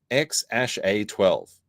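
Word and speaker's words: X Æ A-12: It's pronounced XA12.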